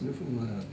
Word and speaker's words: Newfoundland: How do you pronounce Newfoundland?